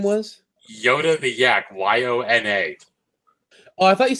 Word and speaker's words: Yona: Yona.